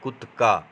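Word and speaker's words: کتکا: وہاں کپڑے خراب کرتے۔ اس کا اصل تلفظ ہے کت کا، جو ڈنڈا ہوتا ہے،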